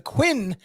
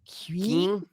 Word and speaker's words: Qing: Until it was forbidden by the Queen dynasty. It's Qing. Queen.